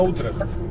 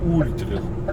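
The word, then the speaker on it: Utrecht: Будем уходить на Утрехт. Наконец-то я правильно начал произносить. Что-то мне все время хотел сказать Ультрехт. От слова Ультрас.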